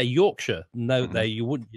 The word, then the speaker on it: Yorkshire: but that's how it's actually spelled as sa York Shire I'm can show ya i would say yorkshire